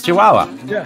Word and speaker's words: Chihuahua: to Let's no yeah you're gonna have to pronounce that oh it's Chihuahua I've never seen it spelled oh Chihuahua that